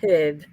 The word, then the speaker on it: herb: husband said to say there's no silent h in herb Aussie girls so